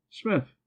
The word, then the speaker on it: Psmith: Smith. The P is silent.